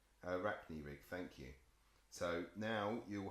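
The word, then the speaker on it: Arachni-rig: the bandsaw you can help me with the pronunciation a rack new week Arachne Rick thank you so now you'll hopefully hear Michael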